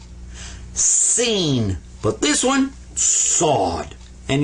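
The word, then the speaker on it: سين: this one right here you smile when you say it seen but this one sawed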